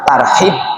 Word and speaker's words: tarhib: bisa hadir dalam rangka tarhib Ramadan. Bacanya unun tarhib nggih. Meskipun tulisannya tar pakai H transitnya tapi bacanya harus tarhib.